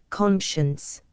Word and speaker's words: conscience: 212 siding champion, conscience. To side is to take a side, and hence to assist, comp. Cor. 4-2. 2. The nobles who have sided in his behalf. Conscience, here a trisyllable, is used in its current sense.